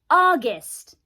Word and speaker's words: August: August の AU はあと発音します。August. August.